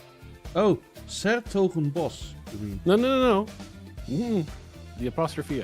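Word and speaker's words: 's-Hertogenbosch: But it's Sertogenbos. Mm-hmm. Well, why do you put Bosch at the end if you want to pronounce it boss?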